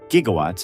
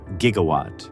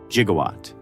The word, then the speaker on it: gigawatt: By the time anyone realized the proper pronunciation used a hard G, the line was already iconic.